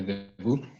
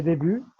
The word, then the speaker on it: début: Le début. Les débuts. Pardon, début. Les débuts dans l'association. Dans ces mots, on ne prononce pas le T.